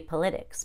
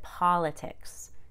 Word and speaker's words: politics: politics according to the rule it would be politics but we pronounce it politics it's an exception the next suffix is iffy